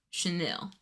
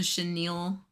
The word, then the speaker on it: chenille: So, the first word, the first word that I got on here and I was saying incorrectly was Chanel. That was the first one.